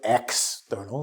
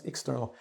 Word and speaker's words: external: And because of that, that here, we say the second syllable, it becomes X. Expect, exclude, and external. Right? We don't go external, it's external. It's an external thing.